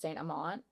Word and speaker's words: Saint Amant: It's actually pronounced Saint Amant, but like, the accent kind of messed with that.